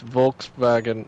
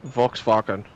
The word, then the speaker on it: Volkswagen: weird Volks fat Volkswagen yeah it's Volkswagen not Volkswagen whatever the you just said I said it how they say it yeah they say Volkswagen like that no you